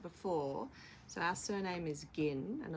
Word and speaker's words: Ginn: so our surname is gin and a lot of people mispronounce it as gin so I was sort